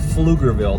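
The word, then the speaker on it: Pflugerville: e it's still pronounced flug Grille the p is silent but anyway she was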